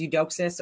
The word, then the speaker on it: Eudoxus: So I think his name is Eudoxus, or for me, it would be Eudoxu, how you would pronounce it.